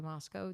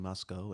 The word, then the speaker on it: Moscow: You've been saying Moscow, and I always say Moscow. So is the correct pronunciation is Moscow?